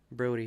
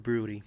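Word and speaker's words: Brodie: Brody right bro helmet yeah exactly Brody Brody helmet not Broody yeah it's probably a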